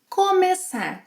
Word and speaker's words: começar: Começar, to start. In the infinitive, it has a closed E sound. Come, começar. But once we conjugate it in the present tense, começo, open, começo, começa, começam.